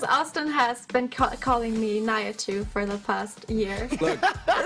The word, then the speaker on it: Nihachu: Can you give me the official pronunciation? It's Nihachu. Nihachu.